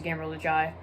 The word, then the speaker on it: Gamer Lajai: I guess Gamer Lajai could, or Gamer Lajai, as it's properly pronounced. He is the kind of fight choreography guy in the smaller Star Wars community. So there's a little shout out to Gamer Lajai.